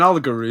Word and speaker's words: allegory: Yeah, it's an allegory, isn't it? Is that how we pronounce that word? Yeah, allegory. Oh, an allegory. Yeah, not an allegory.